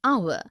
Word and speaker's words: hour: heir, an honest, an hour. Because the words heir, honest and hour begin with a vowel sound, as the initial consonant H is not pronounced.